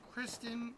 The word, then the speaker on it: Kristen: You know, knowing Uni, he would want me to raid this person that he mispronounces her name by calling her Kritten Crazy, but her name is Kristen is Crazy 1.